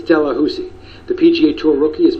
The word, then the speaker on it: Delahoussaye: I know it looks like Delahousie, but he told us himself it's Delahousie.